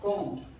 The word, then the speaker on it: comb: Then uh number four it's comb. It's B. Yeah. Okay. So cone. The B is not pronounced.